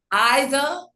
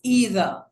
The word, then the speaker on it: either: won't worship the Father either. Some people may say either. It's just different nations. This is the American translation or pronunciation. It's either. The British pronunciation would be either.